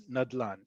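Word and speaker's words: נדלן: It will be written as an acronym and it will be pronounced as nadlan. It will not be No one will ever talk to you as a um renter, as an agent, no one will ever say neches dela nayad.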